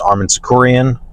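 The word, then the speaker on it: Arman Tsarukyan: winner of Oliva versus Armen sakuran that's how you say his name um they just wanted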